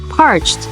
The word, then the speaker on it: parched: okay repeat after me parched you don't pronounce Ed at the end of the word you say a soft te sound say it with me